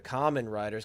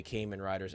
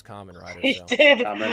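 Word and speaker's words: Kamen Rider: earlier indirectly when we were talking about the common Riders because you corrected me so I had to remember that you corrected me and Lane continued to say Cayman Riders after I told him that it was common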